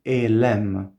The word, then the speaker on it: Elem: questo nome divino, che a me è stata insegnata la pronuncia di Elem. ok? Quindi non è una pronuncia assoluta, potete pronunciarlo anche negli altri modi che vi ho detto, ma a me l'hanno insegnato in questa maniera e io lo uso così.